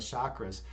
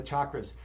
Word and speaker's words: chakra: you did on the chakras yeah and then on the chakras by the way you can pronounce uh chakra chakra as well it's it goes both it goes both ways you know so uh